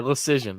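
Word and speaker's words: Leschyshyn: Just pronounce it as Decision with an L. Okay, Decision.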